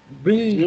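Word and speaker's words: بِالْ: Bil jamiyati. This is ba kasra lam sakin. Alif is silent here, and ba kasra lam sakin bil.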